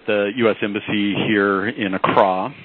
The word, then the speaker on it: Accra: embassy here in Accra I should stress the pronunciation of a car i think it was mispronounced no criticism i was mispronouncing a prior to my arrival but Accra Ghana capital of ghana and